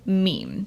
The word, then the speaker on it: meme: I hope my classist friends will forgive me if I abbreviate mimme to meme. It should be pronounced to rhyme with cream.